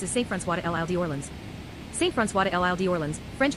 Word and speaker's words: Saint-François de l'Île d'Orléans: Saint-François de l'Île d'Orléans, French pronunciation, Saint-François de l'Île d'Orléans, lit.